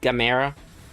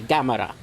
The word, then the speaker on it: Gamera: Some people will call him Gamera because of the English dubs from the past. You watch a Japanese film, it's usually Gamera. So I usually lean towards the Japanese pronunciation of it.